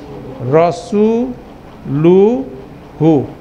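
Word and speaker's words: رسوله: হুয়া তাহলে কি হবে রাসুলু হু ঠিক আছে যেমন রাসুলু প্লাস হু সমান সমান কি হবে রাসুলু রসুলুহু ঠিক আছে অসুবিধা আছে ইউ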